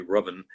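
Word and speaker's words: Ruthven: series of women was whose name was lord rovin um spelled ruth then nobody pronounces it correctly it's actually robin and thank you the world the world assumed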